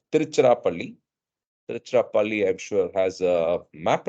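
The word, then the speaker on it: Tiruchirappalli: until they reached trichnopli trichnopoly is the western or British pronunciation and spelling for tiruchirapalli I'm sure has a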